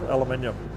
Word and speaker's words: aluminium: But the big thing was that I built it out of aluminium, or aluminium as the Americans say.